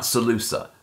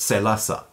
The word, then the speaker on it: Salusa: same set of stories now the way Frank Herbert probably intended the name of his prison planet to be pronounced was not SaLuSa but say Lhasa play on the Latin word salus so in all likelihood